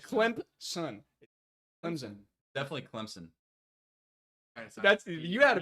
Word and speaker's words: Clemson: did say Clemson you said Clemson Clemson definitely Clemson that's you had a p in there in